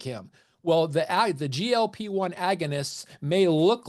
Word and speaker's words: GLP-1: That's the GLP-1. It's not pronounced gulp, even though you gulp food, and that's kind of the whole point here.